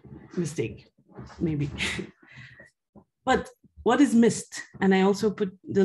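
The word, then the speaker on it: MyST: the abbreviation is uh i usually call it mist but i know that the german colleagues might have a problem with that because missed in german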